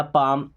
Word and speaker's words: palm: जैसे एल, अगर लास्ट में एल के बाद के आ जाए या एम आ जाए तो एल साइलेंट हो जाएगा, जैसे टॉक है ना, या पाम, आपने पढ़ा होगा PALM, बड़ा कन्फ्यूज होता है पाम, पाम का मतलब हथेली होता है।